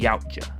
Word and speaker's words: Yautja: But I feel like in this specific case, it's good to know that they're called the Yautja. I feel like that's the correct pronunciation.